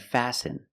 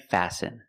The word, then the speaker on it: fasten: And fasten. Example, fasten your seatbelt. Fasten is a verb, and the T is silent.